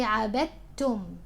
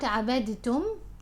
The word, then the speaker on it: عبدتم: The dal here merges with the ta, with the sound of the ta, the letter ta, so it's as if the dal isn't here. So you say عبدتم, not عبدتم.